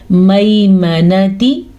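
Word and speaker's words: الميمنة: میمنتی، میم زبر یا مئی، یہاں پہ یا لین ہو رہا ہے، یا ساکن سے پہلے زبر ہے.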